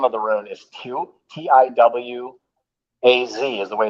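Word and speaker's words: Tiwaz: the real name of the rune is two tiw a z is the way it's pronounced and written in pro or germanic but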